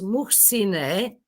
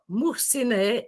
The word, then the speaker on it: Muhsine: And then, so you have to read the last syllable. So my name is Muhsine, because Muhsin is a male name. And so Muhsine is my name.